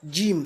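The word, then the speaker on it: جيم: ne dit pas Jamila en arabe c'est Jim ce n'est pas déjà donc il faut pas faire la vision il faut pas faire la confusion de prononcer Jim comme un j en français et vous avez également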